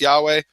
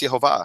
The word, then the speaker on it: Yehovah: that said it's Yahweh I have found Jewish sources that say it's yahovah in fact I I'm